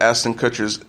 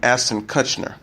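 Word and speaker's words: Ashton Kutcher: name the star wrote I messed up Eston Kutcher's introduction I think I called him Astin Kutner Kerry Washington teamed up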